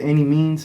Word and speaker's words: Annimeanz: n i m e a n z it's pronounced any means but that's the way it's spelled you know